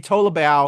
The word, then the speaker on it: Tolibao: And Harvey Tolibao, yeah. I'm probably pronouncing his last name brutally.